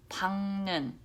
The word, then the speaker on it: 밝는: Okay, this letter, now this is more tricky because this one is actually pronounced, I know it's going to be confusing, it's pronounced 박는. 박는 with actually ng sound.